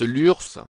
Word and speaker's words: Lurs: de l'URSS et lurcien nota bene on prononce l'ours l'urssa reçu le label